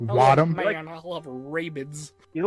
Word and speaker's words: Rabbids: You mean rabids? Raving Mayro? Rabbids. That's Hey guys, you like rabids? I love- Wadham? Man, I love Rabbids.